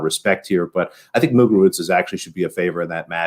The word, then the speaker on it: Muguruza: I think she's been she's probably at least to one hardcourt final, you got to say the Z like Ibiza. Like it's a soft C. Muguruza.